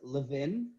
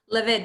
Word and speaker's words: Levin: is it no so i like to tell people it almost sounds french it's levin levin okay so i wasn't